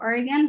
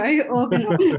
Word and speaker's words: Organon: So as you mentioned before, well, I mentioned before, you currently work at Oregon. I think that's how you say it. Organon. There we go, Organon.